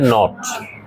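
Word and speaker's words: knot: আছে তোমরা মনে রাখবা কে এন যখন একসাথে সেন্টেন্সে থাকবে প্রথম কটা সাইলেন্ট থাকবে তাহলে এটার উচ্চারণ হচ্ছে নট এটার উচ্চারণ কি তোমরা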